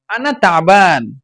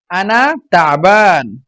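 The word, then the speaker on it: أنا تعبان: জিনিসগুলো দরকার হতে পারে আনাতাবান আনাতাবান সুন্দরভাবে উচ্চারণ করবেন এখানে আইন আছে আনাতাবা গলার ভিতর থেকে বের হবে আইনটা আনাতাবান এভাবে আমি অসুস্থ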